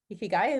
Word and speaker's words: ikigai: cool so you talk about this word called e ki gai ikigai am i pronouncing it right yep how what is that